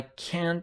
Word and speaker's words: can't: So try to pronounce I can't like this. Don't pronounce it that strongly with t.